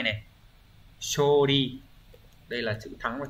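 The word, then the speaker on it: 処理: Như vậy chữ sử âm Hán Việt là ư thì sẽ không có trường âm, đọc là shori.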